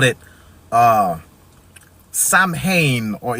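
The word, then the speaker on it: Samhain: they called it uh Sam Hayne or it's pronounced different in the um in the original tongue like Shaman or something like that or I think the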